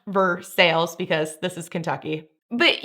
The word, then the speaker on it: Versailles: Versales road to sales. And yes, it is pronounced Versailles because this is Kentucky.